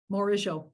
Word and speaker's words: Morigeau: MORIGEAU, yeah.